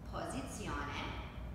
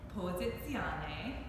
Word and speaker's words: posizione: Posizione. Posizione. Which means position. Posizione. Posizione. Della. Della. Montagna. Montagna. Posizione della montagna. Posizione della montagna.